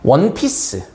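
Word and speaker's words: One Piece: 원피스. 여자들이 입는 옷 혹은 뭐 남자들이 그 잘 알 수 있을 그 만화책 있죠? 원피스라는. 자, 원피스야. 어야 언이야? 어야 언이야? 어죠. 왜? 얘는 발음은 W잖아. 이거잖아.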